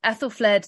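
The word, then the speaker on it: Æthelflæd: women in feudalism she's written a biography of Ethel fled the warrior king did I pronounce the name correctly Joanna you did fantastic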